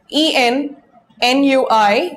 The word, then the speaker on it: ennui: Then, ennui, it's spelled E-N-N-U-I, but it's pronounced ennui, like in envelope. Now, the E-N here is not pronounced as N, but as on.